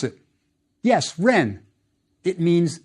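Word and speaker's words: rn: more about him later next try this noun pronounce it yes Ren it means name one last word for today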